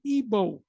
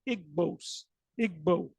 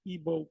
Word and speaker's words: Igbo: You have the Igbo. Some people say Igbo, but it's pronounced, I believe, the Igbo, and that's a tribe